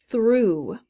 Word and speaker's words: through: Through. Through. I think I mentioned that at the beginning as a potential example word for the GH, through. So it goes there. Silent GH.